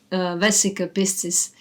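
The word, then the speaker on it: vesica piscis: related to that um very interesting symbol called wessica Pisces or it is pronounced in many different ways but it's I think it's vesica pistis if I say it in English it will be I mean in English accent it can be understood maybe better so this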